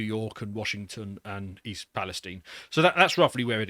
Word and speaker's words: Palestine: is East a Palestine I think it's written Palestine but they pronounce it Palestine so yeah the wrong